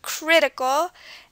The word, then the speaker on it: critical: down here critical crtical the stress is on the crit at the beginning critical and geological geological stresses